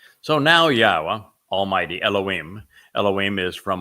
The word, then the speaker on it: Yahowah: W again uh and the W is pronounced as an o sound as it is in Torah as it is in shalom and since the Torah is where we're reading these narratives from yahwah he explained in the